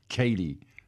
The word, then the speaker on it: Katy: I mispronounced her name, of course. It's Katy, not Kathy.